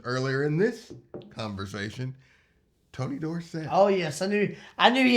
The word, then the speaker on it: Dorsett: He changed the pronunciation to Dorset, or either we had it wrong. Somebody it's had probably it more likely wrong the whole time.